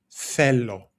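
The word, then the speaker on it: θέλω: And that is fellow. Fellow spelled like this. Fellow. And we have that th sound, the theta, which in Greek is a th sound when we say thanks or thoughts, right?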